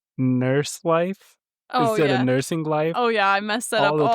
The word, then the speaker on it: Nursing Life: I was like, wait, it's not nurse life. No, it's nursing life. It is. ING. There is an ING in that.